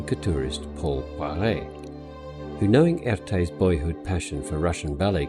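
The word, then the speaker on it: Erté: The Russian artist Roman de Tirtov called himself Erte after the French pronunciation of his initials Erte.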